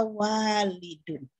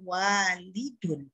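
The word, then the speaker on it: والد: Perhatikan di bawah setelah waladun, saya tulis kata walidun. Ada alif setelah waw, membacanya berbeda. Yang atas waladun, yang bawah walidun.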